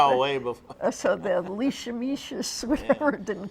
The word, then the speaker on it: leishmaniasis: So the leishmaniasis, whatever it didn't call it. Leisha, how do you pronounce it?